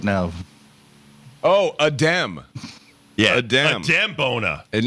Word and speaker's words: Adem: I was wondering if that's pronounced Adam or Adem. It's Adem.